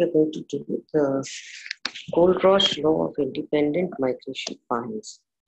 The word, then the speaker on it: Kohlrausch: Goldrosh law. This is how you pronounce it.